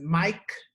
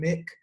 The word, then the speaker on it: Mic: Yes, I am mountain underscore MIC as Mike. It is pronounced like microphone. It is not Mountain Mick.